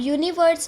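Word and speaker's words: universe: अब यूनिवर्स में हमारा साउंड आ रहा है यू का, यूनिवर्स में हमारा साउंड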